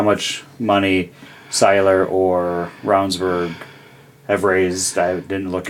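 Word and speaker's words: Ravnsborg: I think in the Saylor Ravage race, it's pronounced Ravensburg.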